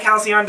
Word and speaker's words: halcyon: you think did you like halcyon digest that is actually how you say it we looked it up